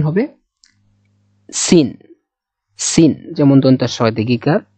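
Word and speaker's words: سين: নোকতা দেওয়া নাই, সেক্ষেত্রে এই যে যেমন এটা সিন, এটা কিন্তু দন্ত স, উচ্চারণের সুবিধার্থে আমরা দন্ত স্বয়ের সাথে আর কি তুলনা করে বলতে পারি হ্যাঁ এটা দন্ত স, বা এরকম ভাবে উচ্চারণ হবে সিন।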